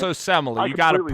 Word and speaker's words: Osemele: I just have a hard time pronouncing it. Yeah, it's Osemele.